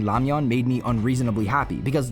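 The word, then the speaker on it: 라면: I also want to take a moment to talk about how Mera saying lamian made me unreasonably happy because yeah, that's how it's pronounced in Korean.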